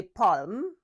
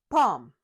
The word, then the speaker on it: palm: Don't say palm, say palm.